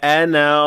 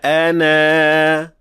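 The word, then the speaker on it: أنا: But if we do stop at it, then we must pronounce that alif completely. فَقَالَ أَنَا رَبُّكُمُ الْأَعْلَى.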